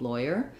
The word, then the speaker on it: lawyer: um is it's it it's not doesn't have the law even though it's spelled like law it doesn't have the sounds of law in it so that's i think what's usually most confusing for people with lawyer um for oi we